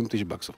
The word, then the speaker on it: 7000$: тема Если хотите запоминайте 7.000 баксов пишется 7.000 долларов а произносится 7.000 баксов кстати тема интересная Почему